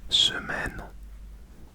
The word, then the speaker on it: semaine: And then for the week, you would say semaine. Semaine. Semaine. Semaine. Semaine. That's spelled S-E-M-A-I-N-E.